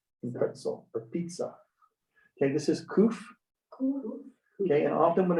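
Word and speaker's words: ק: If it's kuf, they'll put with a Q. If it's with kaf, they'll put it with a K. Okay. So you can tell which they're both pronounced the same, but they're spelled differently in the transliterated into English.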